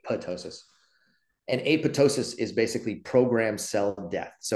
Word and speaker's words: apoptosis: about earlier is apotosis it's spelled AP o ptosis so you read it and you say it looks like it says apoptosis but it's actually apotosis and apotosis is basically